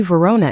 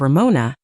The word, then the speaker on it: Ramona: He'd consistently mispronounce my name, calling me Verona instead of Ramona, despite my corrections.